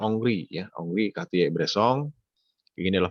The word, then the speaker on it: Henri: Bukan Henry, kalau Henry berarti orang sejarah nih, kalau Henry bacanya. Oh, kalau ini adalah Prancis bacanya adalah Henri ya, Henri Cartier-Bresson.